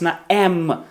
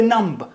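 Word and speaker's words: numb: В кінці речення бачити MB, зупиняємось на м. Це будуть слова типу м та великий палець. Мм. Не будемб. М. Да. Великий палець. Нам онімілий не буде намб нам.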